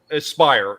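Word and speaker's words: Aspyr: Aspire is Aspire Media. Yes, how it's pronounced.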